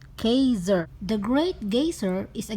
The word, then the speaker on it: Geysir: are going to gazer you know guys for this gazer it is Icelandic pronunciation Kaiser the great gazer is